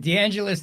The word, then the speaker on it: DeAngelis: It rhymes with my last name. The Evangelist. That's right. D'Angelus the Evangelist.